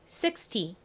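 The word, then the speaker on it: sixty: 자, 60은 어떻게 발음해야 되죠? 앞에 강세 60 이죠. 60. 반면 16은요? 뒤에 강세 16입니다.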